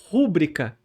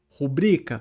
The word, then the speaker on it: rubrica: Tem muita gente que pronuncia rúbrica e já tem dicionários começando a aceitar rúbrica com essa tônica no u. Mas o certo é rubrica.